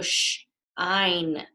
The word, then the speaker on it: shine: S and the H, remember that's a digraph that makes a sh sound. So shine, shine. And this I becomes the long I because we have an E at the end. And remember, our silent E changes whatever vowel is in the word. So only one vowel is in these words, right? So it's ein. So the E changes the I to be the long I sound.